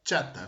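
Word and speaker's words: חטא: Hay un término que se pronuncia así, chata, ¿no?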